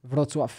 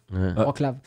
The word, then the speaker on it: Wrocław: C'est ça la vraie prononciation, c'est ce que t'as dit. Ouais. Toi, tu disais quoi? Au début, je disais Wrocław. Ouais, c'est ça. Parce que ça s'écrit Wrocław, comme sinon on le disait comme ça, mais c'est. Là, maintenant, je dis Wrocław, mais c'est pas la bonne façon non plus.